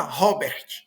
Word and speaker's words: Robert: Só que em inglês então fala Robert, né? Nem Robert, Robert, nem Robert, né? É, é mudo esse T aqui final também.